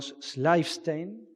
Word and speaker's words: Schleifstein: El primer trabajo que va a presentar es el de Darío Schleifstein. ¿Está bien pronunciado, Darío?